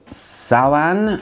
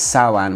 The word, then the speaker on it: Samhain: this one which is called sawan it's spelled samhain but it's saoan which is something to